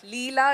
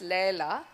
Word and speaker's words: Leila: So Leela is what I thought it's called, but it's apparently pronounced Leila.